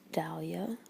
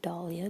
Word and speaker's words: Dahlia: Then you have some Oscar de la Renta, some Elizabeth Arden Red Door, some Dahlia, or Dahlia, depending how you say it.